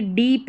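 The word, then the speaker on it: deep: और जो बेसिक इसका उच्चारण है, जैसे अब यहाँ पर दीप नहीं बोलेंगे, अगर हिंदी का कोई नाम होगा तो ये दीप रहेगा, जैसे किसी का दीप नाम होता है, लेकिन ये डीप है, इंग्लिश का वर्ड है।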